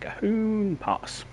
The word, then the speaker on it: Cajon Pass: Today on Cajon Pass, and that's how the chap on the training thing pronounced it, Cajon Pass.